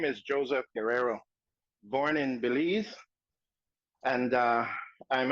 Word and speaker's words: Guerrero: It's pronounced Guerrero. It's like G-E without a U.